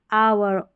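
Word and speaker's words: hour: तो यहां पर एच जो है ये साइलेंट है इन सारे स्पेलिंग्स में। किस-किस में? आवर, ऑनेस्ट, ऑनर और एयर में।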